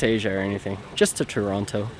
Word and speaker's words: Toronto: or anything just to toronto or as the locals would say toronto because they all call me out on it whenever i pronounce it toronto with a strong heavy tea toronto or toronto anyways